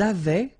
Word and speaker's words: avaient: Ils avaient, so remember, even if we've got this A-I-E-N-T, well, we don't pronounce it, or we don't pronounce this E-N-T, so we get avaient, okay, phonetically.